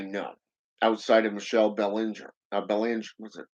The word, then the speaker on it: Belanger: Belanger, was it? How do you pronounce that? Belanger. Yeah, that's the one. Belanger.